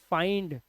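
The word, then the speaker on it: find: ND, आई के बाद ND, इसलिए इसे फिंड नहीं पढ़ते, इसे पढ़ते हैं फाइंड।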